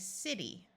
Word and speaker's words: city: So this word is city. C followed by an I has the soft sound S, so city.